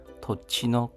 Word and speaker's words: 土地: 쟁코크노 토치노 카카크와 토지가 토치입니다. 당지자가 치로 발음이 됩니다.